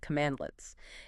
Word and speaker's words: cmdlets: The core building blocks are cmdlets, cmdls, pronounced commandletits.